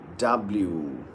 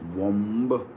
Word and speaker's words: womb: W-O-M-B. Now we say it like womb. It isn't womb. Look at this. This is oo. So it is womb.